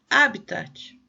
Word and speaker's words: habitat: aqui na verdade ele essa palavra tem acento no primeiro a então é habitat o habitat coloque é